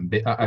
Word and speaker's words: Baha: Bon, d'abord, je m'appelle Baha, ça se prononce, je ne sais pas, c'est un B-A-H-A, Baha.